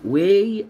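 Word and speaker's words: weigh: واي اراوند يزن حوالي، واي ما تنطقوش الجي والاتش، واي اراوند، واي اراوند يزن، واراوند يعني حوالي.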